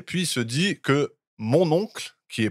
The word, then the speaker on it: mon oncle: censé être français et en français on dit mon oncle et donc le mot mon oncle prononcé à la française ça ressemble beaucoup à mon ocle et que ça pourrait